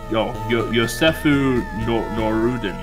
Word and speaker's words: Josef Norden: Josefu Norden. Apparently that's how you actually pronounce that.